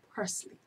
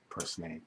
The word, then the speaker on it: purslane: Bermudians pronounce it parsley. I have to say the Bermudian name because otherwise people won't know what I'm talking about. Purslane.